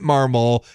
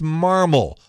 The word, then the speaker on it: Marmol: I heard so many people saying Oli Marmol and it isn't Marmol, it's Marmol, like marble.